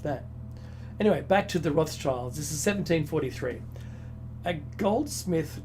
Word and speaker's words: Rothschild: the Red Shield Firm, pronounced in German as Rothschild.